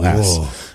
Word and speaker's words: Corrales: She said, "I married James Avery Corrales, but it's Quawrells.